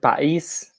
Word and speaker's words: país: in the word país country, we have the accent in the I. That's the only difference, but the pronunciation is just the same.